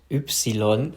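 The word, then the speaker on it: Ypsilon: I'm sorry in German it's called oopsilon so I thought it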